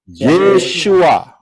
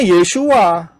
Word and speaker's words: Yeshua: Yod syin wau Ayin aksara-aksara ini pengucapan di dalam bahasa Indonesia adalah tertulis yesua betul ya benar karena orang Israel ngomongnya yesua lah kita kita huruf